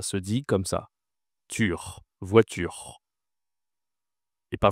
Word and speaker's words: voiture: Attention, on dit u. Ici, ce n'est pas un ou. Donc le tur, ça se dit comme ça. Tur voiture et pas voour hein, voiture.